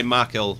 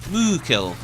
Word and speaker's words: Makil: That guy Makil, what a guy. Although I'm sure it's pronounced Mookil.